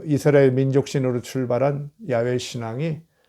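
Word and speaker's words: 야훼: 이스라엘 유대교 외신 그 야외에 우리가 여호와 라고 하는데 원래 이제 야외 라고 발음을 하죠 그 일신 야외 라는 에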